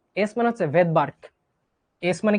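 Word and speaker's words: Svedberg: উজ্জ থাকে সাইলেন্ট থাকে এরকম ভেদবার্কে এসটা উজ্য থাকবে এটা কি ভাইয়া ভেদার্ক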